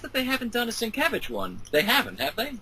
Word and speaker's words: Sienkiewicz: And I'm surprised that they haven't done a Sienkiewicz one.